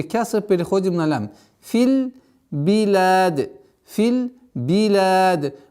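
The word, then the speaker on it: بلاد: Филь биляд, филь биляд. После сукуна нужно максимально четко произносить огласовку кясра с буквой б.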